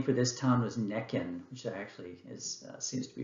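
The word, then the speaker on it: Nekhen: slide, the Egyptian name for this town was Nekin, which actually seems to be preferable to me to pronounce because I hate saying Hierakonpolis.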